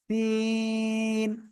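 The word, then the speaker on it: سين: আগা সাজিদ ঘুমায়েন না সামনের নিচের দুই দাঁতের পেট ও আগার সাথে লাগাবো লাগিয়ে উচ্চারণ করব সিন সিন সিন সিন সবাই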